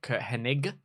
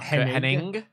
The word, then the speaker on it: Hennig: so who we've got Hennig not Henning Mr Perfect love Mr